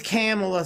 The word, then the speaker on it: Kamala: It's Kamala, sir.